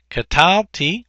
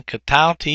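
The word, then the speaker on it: קְטַלְתִּי: Katalti, again, katalti here, the accent's over the second syllable.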